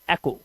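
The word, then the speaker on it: echo: ऐसे ही ऑनर, और यहां पर ये वर्ड है एको।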